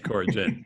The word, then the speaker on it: Coragem: Coragem. I'm sorry. RG, like the drink. Okay, Coragem.